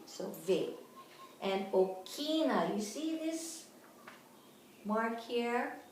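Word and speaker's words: ʻokina: And okina, you see this mark here? It's like a backwards apostrophe, okay? Okina. This is considered an alphabet too. It's a glottal stop.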